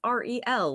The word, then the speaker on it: Ariel: So if anyone is wondering out there in listener land, it is R-E-L, like the letters R-E-L. It is not like the mermaid.